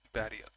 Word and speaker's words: burial: a place of barrial b u r i a l pronounced barrial for sure t r y